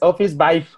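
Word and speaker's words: Officevibe: Aquí está, es Carla Romero, y ya me lo escribió como se pronuncia, es Office Vibe.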